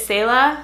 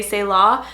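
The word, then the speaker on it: Selah: I love so much this name is Sayla you could say Sayla you could say say law but you see this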